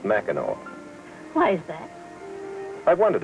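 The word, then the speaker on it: Mackinac: in different parts of the country ever visit Mao Island up here at the end of Michigan no it's not too far from here you take a boat over it's the place that's spelled macac and pronounced Mao why is that I wondered about that next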